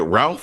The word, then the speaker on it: Ralph: him and is it Ralph Fiennes? I always confused. It's Rafe Fiennes. Rafe.